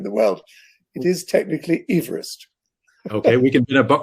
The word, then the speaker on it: Everest: given to the tallest mountain in the world mispronounced everest so your listeners may be intrigued when they